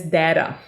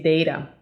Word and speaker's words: data: By the way, the word data can also be pronounced as data. In this region where I live, people normally say data, but I've heard people saying data as well, all right?